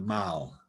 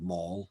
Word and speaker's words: Mall: he decided to expand it down to the mall which is why we pronounce these words instead of maul like a very american term but a lot